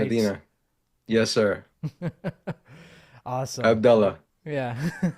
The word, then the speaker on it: Medina: Did I pronounce that right? Medina.